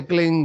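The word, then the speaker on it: क्लीं: की मात्रा और बिंदी, इसकी ध्वनि निकलेगी ग से, क्लिंग ग, क्लिम में नहीं, संस्कृत में क्लिम होता है नहीं, क्लिंग है, अंग का उच्चारण होना पड़ेगा।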